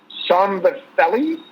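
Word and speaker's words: Szombathely: passed away and you ready for this one somber fellaini s-z-o-m-b-a-t-h-e-l-y so it's actually not budapest i can't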